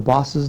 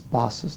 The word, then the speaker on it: boss's: Do we hear the extra zus here? The boss's daughter? Is that correct, or is it boss daughter? No. When it's pronounced correctly, okay, it's not boss daughter, it's boss's daughter.